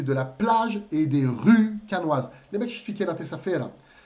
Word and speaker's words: rue: É por isso que a rua, la rue, leva um E, porém é mudo.